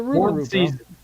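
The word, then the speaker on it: rougarou: The rugaroo. Come on, MAN. YOU GOT TO GET HYPED FOR THE RUGAROO. NO. NO. It's Louisiana, bro. Rugeroo. Rugeroo. Rugaroo. That's how you say it.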